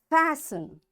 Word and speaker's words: fasten: Listen, fasten, castle, often, whistle, soften, hasten, bustle, and gourmet. In all these words, letter T is silent.